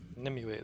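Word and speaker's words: Nimue: Nimu, that's how you pronounce it.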